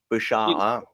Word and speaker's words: Bouchard: Bouchard? Did I pronounce his last name correctly? Yannick Bouchard. Bouchard.